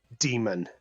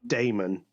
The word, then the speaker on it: Demon: his name was like is it D Damon similar to The Demon Lord or is it demon no demon he said it was demon not Damon demon thank thank you